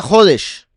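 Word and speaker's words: חודש: En hebreo, la palabra para mes se pronuncia jodes, mientras que nuevo es hadash, razón por la que el nuevo pacto es llamado el habrid a hadasá.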